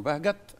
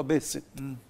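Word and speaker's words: Behçet: طبعا وعندنا في مصر كتير جدا اكتشفوه راجل تركي اسمه بهجت، وطبعا هم بينطقوا بهست. او حورت الى بهست في المراجع العلميه.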